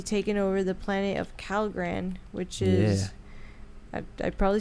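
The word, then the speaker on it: Kalgan: and he's supposedly taking over the planet of calan which is I probably said it wrong no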